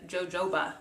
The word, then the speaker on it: jojoba: it shines softens protects how do you say that boo boo boo no is jojoba jojoba there we go seed oil vitamin infused